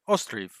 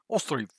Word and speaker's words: Ostriv: I think they said Ostriv, Ostriv, which I just can't do it the same as the Google pronunciation lady.